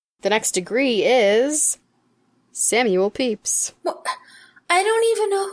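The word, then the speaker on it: Pepys: familiar it spelled PEP why s clay it pronounced peace peace yeah that's what I thought it was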